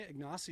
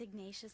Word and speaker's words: Ignatius: It's Ignatius, like Saint Ignatius.